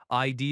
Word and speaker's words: ID: ID is pronounced as two letters. ID. Stress on both letters equally.